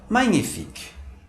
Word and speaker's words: magnifique: A consoante dupla GN tem o som em português do NH. Por exemplo, na palavra magnifique, que significa magnífico.